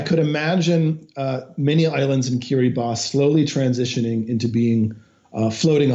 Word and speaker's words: Kiribati: door to French Polynesia is kiri boss an island nation most people pronounce at Kiribati it's scheduled to sink